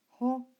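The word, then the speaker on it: ὁ: If you notice the breathing on the omicron, which tells you pronounce that as ho.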